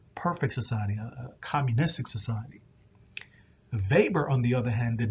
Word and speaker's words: Weber: early theorists is max weber i know his name seems like it's pronounced weber is actually pronounced almost like a v now weber is interested